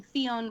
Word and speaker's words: Ffion: pretty much just under my name Theon which is spelled f-f-i-o-n it is Welsh blame my mother not me but um be on